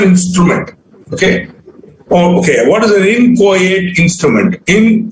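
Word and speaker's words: inchoate: okay what is an inco it's not inate it's in quiet the ch is pronounced ka inco is an instrument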